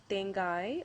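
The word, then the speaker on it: தேங்காய்: So for example, if you take coconut, you can pronounce this as tengai or tenga. So ka and ga.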